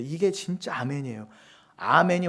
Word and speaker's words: 아멘: 돼 이게 진짜 아멘이에요 아멘이 원래 아만해서 온 거잖아요 히브리어 암환의 헬라식 발음이 아멘이에요 아멘 하실 거면 이것도